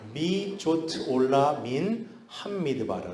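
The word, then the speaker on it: מי זאת עולה מן המדבר: 6절 처음 시작할 때 이렇게 시작하는데 발음을 보면 미 조트 올라 민 함미드바라 이렇게 되어 있어요.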